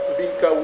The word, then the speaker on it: Mbinkar: So let me just go back and recognize the presence of Barrister Binka, who is with me, and Barrister Achiri, who are also with me on the file, sir. And Binka is spelled Mbinkar, and Achiri is spelled Achiri.